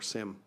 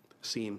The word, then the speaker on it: SIEM: The Auditor General also highlighted our project to develop a Security Information and Event Management System, or SIM for short. SIEM, some people pronounce it.